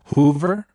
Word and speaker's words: Hoover: To pronounce it correctly, emphasize the HO sound and then the ver at the end. Make sure to stress the first syllable and keep the ver short and crisp.